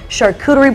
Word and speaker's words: charcuterie: And we even know charcuterie is charcuterie. Is that how you say it? Charcuterie, yeah. Charcuterie. Charcuterie. It's French, yeah.